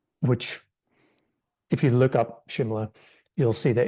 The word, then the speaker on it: Shimla: I'm going to you for that one, Preg, Shimla, or in the book it's Simla. I'd say it's SH, and normally how it's pronounced.